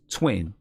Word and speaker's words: TWXXN: All right, the group is Twin, and it's spelled TWXXN.